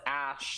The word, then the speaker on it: Ash: So it's pronounced Ash, like... Okay. It's pronounced like Ash. Ash Ketchum.